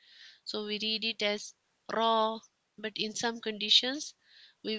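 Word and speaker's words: راء: This is also a soft letter and then is raw. Raw. Here we read it with thick sound, heavy sound. So we read it as raw.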